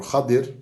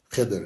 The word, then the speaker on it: Khadir: And we know that from the story in the Quran, in Surah Al-Kahf, where Al-Khidr or Khadir, that's the proper name, proper pronunciation. Khidr is slang pronunciation, but everybody knows Khidr.